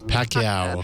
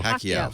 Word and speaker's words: Pacquiao: uh Mayweather uh uh Pico how do you pronounce his last name Pico uh shows how little I know Pacquiao Pacquiao Pacquiao Pacquiao and uh I actually just because